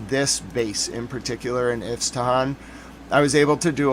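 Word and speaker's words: Isfahan: Apparently it has two different names. Well two phonetic pronunciations. Then I'll show you what happened in Tel Aviv today. But we got to go to Afahan or if Tahhan. I think it's Afahan. I'm going to go with my Yun's pronunciation.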